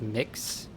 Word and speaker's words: Mx: Your friend uses MX instead of MS or MR at work pronounced mix.